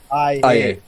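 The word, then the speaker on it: Aye: Oh, A-Y-E, but it's pronounced I-A. I-A.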